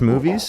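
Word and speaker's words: Moonves: There were people specifically Donald Trump and uh uh less movies or I'm I'm pretty pretty sure that's how you pronounce movies.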